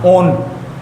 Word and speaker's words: one: Alkene plus में ONE, वन मत बोल देना, ओन प्रोनाउंसिएशन होगी इसकी, कीटोन में भी पढ़ाऊंगा, ठीक है।